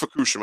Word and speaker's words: Fukushima: Leo is actually tagging with Fale at Fukushima against. I'm sorry, it's pronounced Fukushima.